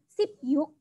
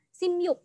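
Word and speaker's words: 십육: Tapi perhatikan ya Wanda Friends, kalau angka 16 ini bacanya bukan sip yuk, tetapi bacanya adalah sim yuk. Sim yuk, seperti itu ya. Bukan sip yuk, tetapi sim yuk.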